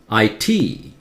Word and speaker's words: IT: my free DVDs acronym the last one is pronounced with stress IT iit ITT DVD TV